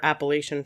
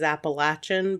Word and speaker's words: Appalachian: It came from an Indian tribe, and so I think the proper pronunciation is Appalachian, but it kind of depends on where you're from. Where I'm from, we say Appalachian, so that's how I'm going to say it.